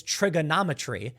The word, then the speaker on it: Triggernometry: They have accents, and so they say ERs like A's, so all they're saying is trigonometry, and that's literally how you say it.